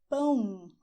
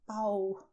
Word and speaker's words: pão: So if you go to a bakery, you should ask for "PÃO", not "PAU" because you will avoid misunderstandings if you do the sound